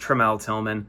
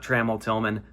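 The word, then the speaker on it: Tramell Tillman: It's pronounced Tremal Tman, not Traml Tilman.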